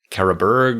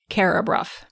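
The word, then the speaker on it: Carrawburgh: Instead, you will see a place that looks like it ought to be pronounced Kabberg or Carabura or something like that maybe. C A R R A W B U R G H. Carabuff. Yes. So the question, why on earth is that B u r pronounced bruff?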